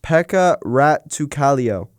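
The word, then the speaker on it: Pekka Rautakallio: pronounced Pekka Rattukalio.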